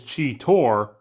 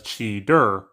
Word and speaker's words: Cheetor: not saying early on his name is chi Tor but sometimes they'll pronounce it as chidur cheetah also has a